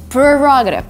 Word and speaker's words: prerogative: the song but actually the right way to pronounce this word is prerogative this is my prerogative the next two words